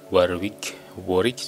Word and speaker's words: Warwick: Sebelum bergabung di Warwick University, Warwick ya bacanya, Warwick University, Dr.